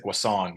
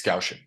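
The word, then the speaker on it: Gaussian: so the gausian distribution I also until grad school I said Guan because I didn't know how to spell it either so it's gausin um so if we're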